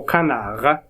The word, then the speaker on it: canards: pas du pain aux canards cana ds on le prononce pas les chemins sont bordées